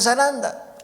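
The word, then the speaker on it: σαράντα: 40 se dice zaranda.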